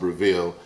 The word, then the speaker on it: Breville: bought myself a Breville I guess it's pronounced reveal smoking gun okay they launched